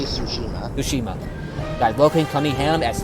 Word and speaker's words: Tsushima: Logan Tsushima, that's how you pronounce it. Tsushima. This is going to take me a while, I swear. Don't get the T is silent, so you just say Tsushima.